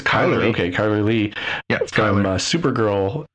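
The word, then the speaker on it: Chyler: uh he was one of the characters uh charler lee or Lei I don't remember how her name is pronounced um yeah it's Kyler oh it's Kyler okay Kyler Lee from Supergirl is on uh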